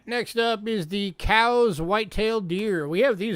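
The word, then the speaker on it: Coues: these in arizona but that word there the c-o-u-s that's actually pronounced cows like a cow like a beef cow found out recently there was a natgeo special about these and the people from that geo couldn't pronounce it right they kept calling them coos coo's white deer they're not coos they're cows can you take us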